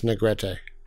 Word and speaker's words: Negrete: But, you know, Jared is from a family whose surname definitely should be pronounced as Negrete.